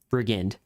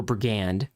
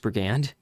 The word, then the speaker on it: brigand: all right now what's next in the enemy list brigand or brigand I know it's not pronounced burgand I don't think that